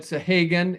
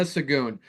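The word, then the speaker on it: Sahagun: I've said Sahagan, and we'll have the name up here so you can see why it looks like Sahagan. So it's Rayana Sagoon.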